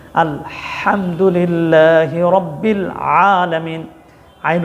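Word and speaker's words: الحمد لله: যদি আপনি খেয়াল করেন অনেক ভাই বোনেরা এই জায়গায় ভুল করেন আলহামদুলিল্লাহি রব্বিল আলামিন হা উচ্চারণ করেন ছোট হা আলহামদুলি এখানে বড় হা উচ্চারণ করতে হবে। আলহামদুলিল্লাহি রব্বিল আলামিন।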